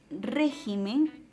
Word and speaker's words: régimen: En la siguiente oración, el régimen político, la palabra régimen carece de un acento ortográfico en la antepenúltima sílaba.